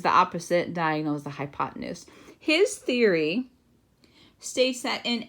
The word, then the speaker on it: hypotenuse: And then the diagonal line would be then called the hypotenuse. Hypotenuse is how you pronounce that.